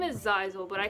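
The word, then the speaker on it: Zaizel: So it's Zizel. It's spelled Z-A-I-Z-E-L, but you can just say Zai, Z-A-I, or if you want, you can still call him Tay, but if you hear me say Zizel, then that's who I'm talking about.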